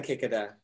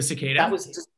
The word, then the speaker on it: cicada: a um people want to know about the kikida the the the insect am i pronouncing it right kick it out yeah the cicadas cicada that was just what was that so